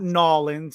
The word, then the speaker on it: New Orleans: It's still technically 1 word, but it's New Orleans. It's not New Orleans.